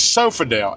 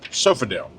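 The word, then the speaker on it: Sofidel: It's Sofodel. s o f i d e l sofale and apparently this is a GP cuz the drop lot's called uh GPville dropy yard.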